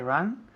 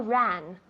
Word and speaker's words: run: I run where she runs. Good. Con la U, que pronuncia muy bien. I run where she runs. Run, no ran. Run. Es un poco cerrado. Tienes la boca cerrada.